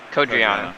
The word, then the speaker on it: Codreanu: How do you pronounce it? Codreanu.